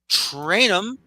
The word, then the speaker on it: Trainum: Trainum. I believe I got his last name correct. You did. You did. That's a rarity, honestly. So, it's spelled phonetically, but everyone messes it up.